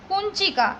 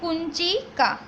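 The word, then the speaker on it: कुञ्चिका: Last word is कुंचिका। इसको हम न के प्रोनाउंसिएशन में, यानी कि जैसे क के ऊपर डॉट हो उसके जैसे प्रोनाउंसिएशन में रीड करेंगे, तो इसको कहेंगे कुंचिका। फिर से एक बार ध्यान रखना, कुंचिका।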